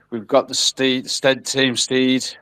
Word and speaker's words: Stead: Steed, how do you pronounce it, Mitchell? We usually pronounce it Stead.